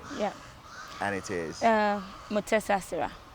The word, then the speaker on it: Mutesasira: get a quick uh master class on the pronunciation of your name yeah and it is uh mesas mesas yeah so you are well known not only